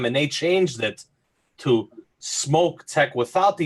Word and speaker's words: Smok: I'm like, I pronounce your company as Smoke. Am I saying it correctly? He's like, yes. There you go. I actually contacted him because I was getting a lot of comments, and they said that it doesn't matter to them which way you say it. Yeah. It doesn't matter, but the proper is Smoke.